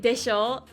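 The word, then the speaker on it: でしょ: In Japanese, if you don't know any Japanese, like desho is like right? That's how you say it. But they put it in English like show because it sounds the same thing as like show.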